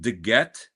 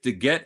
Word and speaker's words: DeGette: DeGette is, I believe, is the correct way to say it.